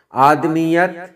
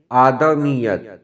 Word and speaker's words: آدمیت: نہیں ہوتا ہے آدمی۔ آدمیت نہیں، آدمیت۔ آراستگی، آراستگی۔ آزردہ، آزردہ۔